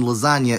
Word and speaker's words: lasagna: forgot to mention that because it's a digraph making new sound, Lil Wayne was technically inaccurate when he implied that the G in lasagna is silent.